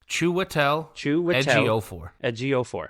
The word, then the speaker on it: Chiwetel Ejiofor: His name is pronounced Chiwetel Ejiofor. Ejiofor. Chiwetel Ejiofor.